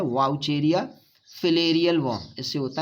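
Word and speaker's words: Wuchereria: वाउचेरिया लिखा जाता है उसको वाउचेरेरिया, लेकिन प्रोनाउंसिएशन है वाउचेरिया।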